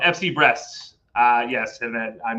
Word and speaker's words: Brest: If anybody doesn't know, first of all, Micah Richard talking about a team called FC Brest. Yes, and I'm not kidding. That's how it's pronounced.